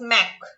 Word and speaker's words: MACH: और फोर्थ है हमारे पास मैक, मैक है MACH, माच नहीं है ये है मैक, इसको मैक प्रोनाउंस करेंगे।